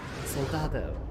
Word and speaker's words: Soldado: There's no L there. There's no second L there. Soldado.